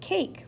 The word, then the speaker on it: cake: A says its name, so I know I have a silent E at the end.